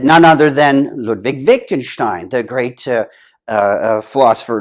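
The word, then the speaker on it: Wittgenstein: discussions with with with Vic and Stein and he pronounced Vic and Stein as weaken Steen weakened Steen and kept calling him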